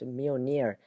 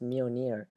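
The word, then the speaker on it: Mjölnir: most famous weapon his hand Hammer which is pronounced Meir not M or meow meow it's actually pronounced Meir the hammer gives him the abilities to deflect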